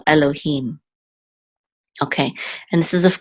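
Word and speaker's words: אֱלֹהִים: the mem so feet so this will be him Elohim and the accents on the last level Elohim okay and this is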